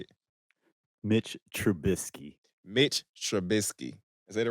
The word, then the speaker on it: Trubisky: I want to give a shout out to Mitch Trubisky. I said it right? Okay. No, Trubisky. This nigga you been fucking